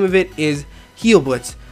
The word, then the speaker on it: Heilblitz: The code name for this is perk_health, and the name of it is Heilblitz. It's spelled like Heil, like it's H-E-I-L Blitz.